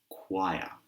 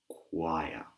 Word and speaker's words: choir: This word is for the people who like singing in groups because this word is choir. Choir. Choir. Not choir, but choir. And like I said, this